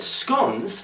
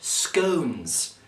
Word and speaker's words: Scones: with me tonight I have special guest Bernard scon Rodney yeah it's actually pronounced scones yeah I've had problems with that all my